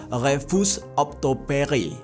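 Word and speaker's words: refus d'obtempérer: Yang mana di dalam istilah Perancisnya tulisannya tuh kayak gini, bacanya itu refus obtempere. Tulisannya ya refus de obtempere gitu ya.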